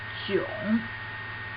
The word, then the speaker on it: 囧: The pronunciation of this character is 囧. 囧. It means awkward, weird.